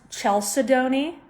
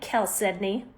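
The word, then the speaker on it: chalcedony: It's It looks like it's pronounced Chelsea, which is what I thought it was called for a long time. It's actually Kel Sedney.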